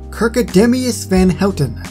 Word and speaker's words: Kirkedemious Van Houten: Kirkedemious Van Houten. That is how you pronounce the name.